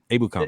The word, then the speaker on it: Ebukam: Samson Ebukam how do you say his last name? I'm sorry. Is it Ebukam? Ebukam, yeah.